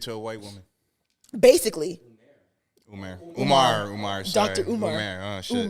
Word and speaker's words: Umar: Umar, sorry. Dr. Umar. Oh, shit. Umar we haven't is had a big crazy. mispronunciation in a while. Umar Is there an E? There's no E?